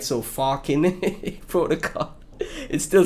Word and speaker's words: Falken: It's f a l k e n like Balkan, right? I know people that are you know, uh from the the Netherlands and Slavic, right? So, Falken Protocol.